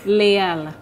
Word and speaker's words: Leel: Except that's not how you pronounce it, though. Yeah, How's it? Leel. Thank you. Leel. That's what I said. I just rolled my tongue.